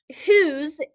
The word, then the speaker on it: whose: on the screen is the word whose that whose is that remember this is talking about something